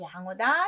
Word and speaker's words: 良: 돼요 그래서 선량하다 양심적이다 양호 계량이 우량이 양질이는데 앞에 오면 양 발음하고 뒤에 가면 량 발음하는 거 그것만 좀 주의하시면 좋겠습니다 두 법칙이 좀 어렵죠